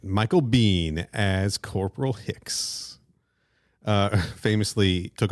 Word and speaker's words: Biehn: On Wikipedia, it says his last name is pronounced Bean. All right, Michael Biehn as Corporal Hicks.